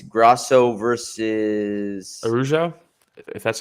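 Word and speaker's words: Araújo: This upcoming weekend, it's Grasso versus Araujo, if that's how you pronounce it. Araujo?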